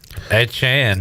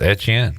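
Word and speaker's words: Etienne: Um Saints get Travis Edan. Travis Eten. Travis Edchan.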